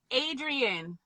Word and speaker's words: Adrian: say your first name adrian like rocky adrian i wasn't quite